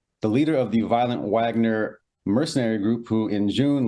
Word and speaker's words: Wagner: I know a lot of people pronounce it Wagner, but it is with a W, so you have to pardon me on that.